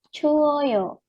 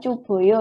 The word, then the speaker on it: 추워요: Kenapa kok bisa menjadi 추워요? Kemarin ada biep itu ya, yang tidak beraturan. Jika ada biep, kemudian diubah menjadi informal kan ketemu aoyo ya. Nah, biep ketemu vokal nanti biepnya menjadi u kan. Kemarin ya. Sehingga ini tambahkan aoyo, oyo ya. 추워요. Bukan cuboyo ya.